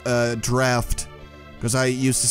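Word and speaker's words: Draught: really only remember that it's supposed to be pronounced uh draft cuz I used to say drought or something like that and then people corrected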